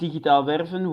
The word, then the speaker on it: digitaal werven: It's officially pronounced digitaal werven, which literally means digital recruiting in the Netherlands, which basically tells you how long I've been at this.